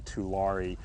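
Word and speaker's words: tule: vegetation of plant called Julie the that's the plant that gives the lake its name the proper pronunciation is probably to re and the two E's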